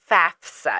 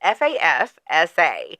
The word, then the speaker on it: FAFSA: You know, because it's pronounced FAFSA. It's FAFSA. Right. But a lot of people say FAFSA. Right. FASFA.